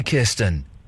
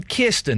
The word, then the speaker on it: Kirsten: Well, yeah, that's why I'm saying write them phonetically, Kirsten. Yes. Do you like the way I'll try. Do you like the way I'm saying Kirsten instead of Kirsten? Yes, I do. It's the correct pronunciation, isn't it?